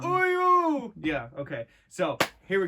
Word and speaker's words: Uryu: We've got Red Hood, The Question, the Talon Owl and Nightwing pack, and then we've got the new Bleach Uryu Ishida, which... Said his name wrong. Uryu!